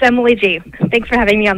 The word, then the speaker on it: Gee: as Emily G Emily is a do I pronounce that right Emily first of all yes it's Emily G thanks for having me on the show oh